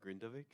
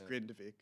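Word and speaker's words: Grindavík: on and I hope I don't butcher the pronunciation with grindavik yeah I know it's grindvik or it's like grind ve gav yeah yeah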